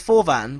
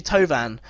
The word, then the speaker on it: Thauvin: So it's going to be difficult for me to pronounce some of these names because, you know, I thought it was Forvan, but it's actually Tovan. Florian Thauvin.